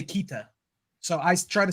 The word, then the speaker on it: Keita: Because in Egyptian or in Arabic, they say Keita.